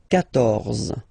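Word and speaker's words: quatorze: And here, 14, so remember Q and U, here, well, basically you've got to put this U vowel, because that's the rule in French, even if you don't pronounce it, okay? So you will get the sound K here, K, 14, 14, okay?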